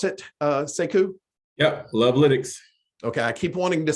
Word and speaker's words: Lovelytics: I guess, is that how you pronounce it, Sekou? Yeah, Lovelytics.